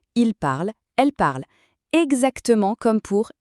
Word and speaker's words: parle: Mais et écoutez bien, cette terminaison est toujours muette. On ne la prononce jamais.